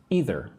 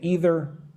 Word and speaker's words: either: They're not going to meet eat meat either. Some people say either. Some people say either. Both are okay.